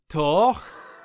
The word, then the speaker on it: Thor: and so uh but in french it's not thought it's tour and so and i asked